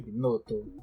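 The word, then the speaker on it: Binotto: foi bacana você viu é binoto assim pronuncia binoto par que é suíço né mas enf é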